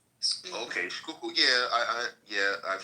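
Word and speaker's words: Schuylkill: Is it Skyo River? Skook. Skookul, not sky. No, it's a Dutch word. Okay. Skookul.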